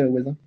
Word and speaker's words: hoazin: Comment ça s'écrit, oisin? C'est H-O-A-Z-I-N. H-O-A-Z-I-N, incroyable, oisin, génial.